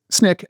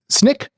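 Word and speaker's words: Snyk: cuz the spelling's crazy Snick Snick SN y c so the Y is an i Snick and no C if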